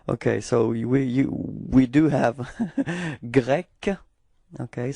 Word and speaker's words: grec: Okay, so we do have grec, okay? So it's ending with a K, K, K, grec, okay? And feminine form is the same, it's grec, okay?